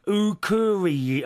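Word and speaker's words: Akureyri: Ukuri. Oh, blimey, I can't say this. Ukuri.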